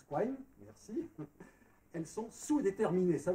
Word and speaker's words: Quine: Il y a une thèse de Duhem, et alors j'aurais dit qui, mais il paraît qu'on prononce Quine, merci.